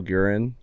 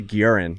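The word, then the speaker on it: Guerin: say his name g I say guran because he's got that gue shout out to the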